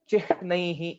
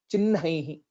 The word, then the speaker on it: चिह्नैः: Here, most of the people would pronounce this letter as chihnaihi, etc., similar to jahnavi and so on. But the actual pronunciation, as per the Shiksha Shastra, is chinhaihi.